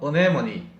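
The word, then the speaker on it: anemone: 정확한 발음은 어네모니, 안으로 모아낸다, 이런 뜻이에요.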